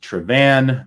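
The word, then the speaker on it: Tràigh Bhàn: classic earn big bottle it is pronounced trevan the BH like in bunahabin it's in Scotts Gaelic it's a v sound um again says here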